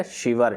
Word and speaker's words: Sciver: सही आंसर हो जाएगा नेट शिवर। ठीक है, ये स्पेलिंग रहती है SCIVER, तो इसको आप शिवर पढ़ें, शाइवर पढ़ें, जो भी आप पढ़ सकते हैं।